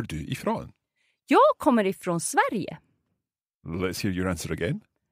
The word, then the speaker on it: Sverige: So, S-V-E-R. I-G-E. So the G has a Y sounding in there. Sverige. Yes, because we have an E there, we say Y. Okay, so Sverige.